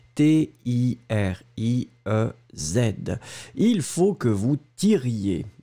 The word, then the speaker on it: tiriez: Il y a des personnes qui ont oublié le i, hein, parce que souvenez-vous que la terminaison, c'est yé, yé, yé, i-e-z. Et donc ici, c'est il faut que vous tiriez. T-I-R-I-E-Z.